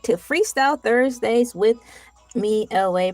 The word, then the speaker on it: ELAY: You made it to Freestyle Thursdays with me, LA, pronounced like LA, like the city.